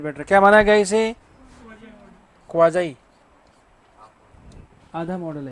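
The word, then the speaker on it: quasi: इसका उच्चारण है क्वाजाई, जो बोलते हैं भोजाई, वैसे क्या है?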